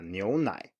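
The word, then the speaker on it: 牛奶: And then we have 牛奶, 牛奶.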